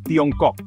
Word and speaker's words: Tiongkok: Dalam dialek Hokkien, Tiongkok diucapkan sebagai Tiongkok yang secara harfiah berarti negara tengah.